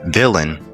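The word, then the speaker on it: Vylyn: Here is his villain. Her name is villain but it's spelled v y l yn.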